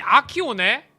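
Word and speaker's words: Accio: 아키오. 발음이 아키오네.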